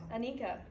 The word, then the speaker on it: Anika: At that same 2021 virtual March 4th, Holland got to introduce, how do you pronounce that one again? Anika.